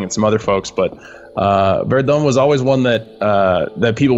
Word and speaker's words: Verdun: Verdun, the game that we're watching here today, that I am apparently mispronouncing, is how is it pronounced?